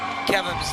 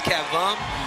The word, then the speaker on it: Kevin: And a lot of people mispronounce Kevin's name. It's not Kevin, it's Kevum.